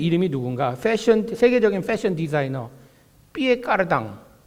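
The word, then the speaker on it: Pierre Cardin: 세계적인 패션 디자이너 피에 까르당, 한국 발음인가요? 피에르 카르댕, 유명한 사람이잖아요.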